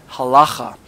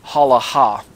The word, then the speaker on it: halacha: by people like myself, as halacha, or some people say halaha, people who choose not to pronounce the gutturals as accurately as they should be pronounced. Halacha or halecha, depending on where you want to stress the syllable there.